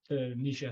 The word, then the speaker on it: Nietzsche: But like people, Nietzsche is the right one.